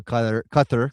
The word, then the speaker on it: Qatar: the English easier alabi for Qatar or Kqur if you want to be more accurate with the pronunciation of that country and then Switzerland Nati